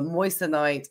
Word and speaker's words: moissanite: think a 0.1 karat the moist night as it's pronounced uh diamonds they are